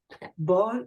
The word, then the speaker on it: Bâle: Bâle is the French pronunciation of the city Basel in Switzerland.